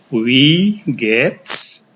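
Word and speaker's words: Wie geht's: bisa menggunakan kalimat ini ini cara bacanya we gets ini I dan e i-nya dibaca panjang e-nya tidak usah dibaca s-nya jangan lupa dibaca Saya ulangi we gets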